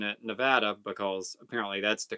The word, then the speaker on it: Nevada: Nana says, "I'm in Nevada." How do you guys pronounce it?